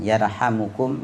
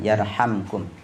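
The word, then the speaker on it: يرحمكم: fisama bisa membacanya dengan yarhamukum bisa membacanya dengan yarhamkum ya dua-duanya boleh wahua hadisun Shahih ak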